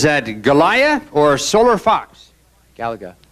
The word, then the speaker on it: Galaga: hand corner is that Galia or solar Fox Galaga Galaga okay fine you're right I mispronounced it you got it right is the